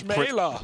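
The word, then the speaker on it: Chmelar: Yeah, obviously it's not smelt like smeller, but no, but you know, some little nose scopes. That's cool. C-H-M-E-L-A-R. Yeah, but it's still Schmeller.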